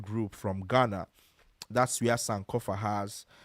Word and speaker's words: Sankofa: It's It's known as Sankofa. I mentioned this earlier when I was giving a rundown of different parts of Africa, especially West Africa. So, Sankofa is spelled s a n k o f a s a n k o f a.